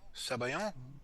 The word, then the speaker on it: sabayon: Sabayon?